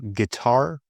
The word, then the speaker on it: guitar: Silent U often comes after G and before E. For example, guess maybe also before I. For example, guitar or guilty.